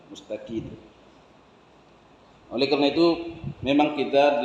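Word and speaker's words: مستقيم: Ihdinas siratal mustaqim, kata N. Rupanya begitu dulu diajar, didengarnya waktu pelajaran pertama, begitu sampai tua begitu saja. Padahal M, padahal mim ya, mustaqim, gitu, mustaqim.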